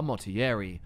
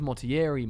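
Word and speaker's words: Motierre: The man's name is Francois Mottieri. Familiar family name, I know, although they seem to pronounce it as Mottieri more in Oblivion, as opposed to Mottier.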